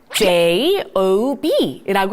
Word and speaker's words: job: 미국에서는 O 발음을 특히나 입을 열려서 라고 발음하는 경우들이 많습니다. 자, 그래서 요거 읽을 때 JOB, job. 잘하셨어요.